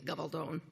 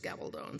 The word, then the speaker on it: Gabaldon: Hence the last name, which if we were speaking Spanish would be Gabaldon. If it's English, it's Gabaldon, so, don't worry about it. It rhymes with stone either way.